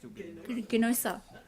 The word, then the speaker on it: subaeruginosa: It's lovely to have you MC as well, and thank you for telling me how to actually properly pronounce. Not a problem at all. Subaeruginosa.